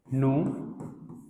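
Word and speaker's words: nous: नु, वो, इल और एल। इसकी प्रोनाउंसिएशन वाली क्लास में, लास्ट क्लास में बताया था आप लोगों को कि हम इसको नूज क्यों नहीं पढ़ते। तो पता था कि वॉवल के बाद जो भी आता है उसको हम रिमूव कर देते हैं लास्ट के 3 में।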